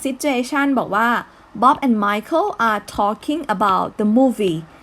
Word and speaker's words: Michael: อ่าน ว่า Michael แต่ ถ้า เป็น ผู้ หญิง อ่าน ว่า มิเชล นะ เขียน เหมือน กัน ออก เสียง ไม่ เหมือน กัน นะ คะ 2 คน